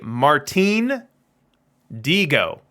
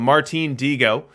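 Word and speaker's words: Martín Dihigo: this stream ever so this is actually martin diego that is the correct pronunciation at least according to the sources that that i was looking at uh which definitely was not what i intuitively uh said but martine diego and uh what's interesting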